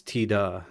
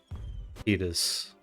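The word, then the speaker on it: Tidus: Yeah, I mean, so in Japanese, his name is Tida, like Tida. So That's why I say it that way. I don't have strong feelings about it if you say it like Titus or Titus, or, you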